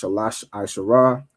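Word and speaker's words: שלוש עשרה: Of course, Shalash Asherah is how you say the number 13.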